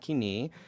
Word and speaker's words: Koine: And they say Koine in that, with that pronunciation, they say Koine, not Kini, to refer to biblical Greek because they want to sort of wall it off.